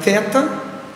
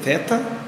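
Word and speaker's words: θῆτα: nós vamos Estamos apresentando o seu nome em grego teta a sua pronúncia em português do nome teta e o som que corresponde a um th é uma letra dupla portanto mas não diria dupla mas é um t aspirado um t soprado um t que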